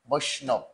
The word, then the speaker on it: বৈষ্ণব: লোকটা, তোমরা একটু ভালো করে খেয়াল করো, জাতিতে বৈষ্ণব, এই বানানটা উচ্চারণ হবে বৈষ্ণব।